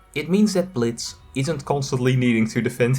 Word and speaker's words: Blitzø: Instead, it relates to Blitz. The O is silent. That wasn't always the case. Now, most people probably call him Blitz. But some villains refer to him as Blitzo.